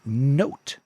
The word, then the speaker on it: Knowt: And the next thing I want to recommend in this episode is Note. And Note is spelled KNOWT.